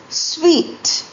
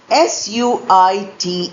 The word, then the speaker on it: suite: Here we have a pair of homophones which are pronounced as sweet. Spelling s u i t e often mispronounced as suit.